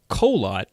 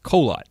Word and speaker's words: Kholat: the exact same way people look at that word and they're like that is kholat that's pretty amazing no one calls it kaha lat or whatever else it could be everyone